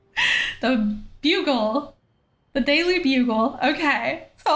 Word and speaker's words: Bugle: much I enjoy it that's how you pronounce it not the buggle I was totally wrong about that the bugle The Daily Bugle okay